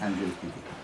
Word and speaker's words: Angelique Kidjo: Am I pronouncing that right? Angelique Kidjo? Angelique Kidjo.